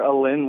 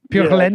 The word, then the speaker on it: pure laine: You said, "Is Greg pure Alin?"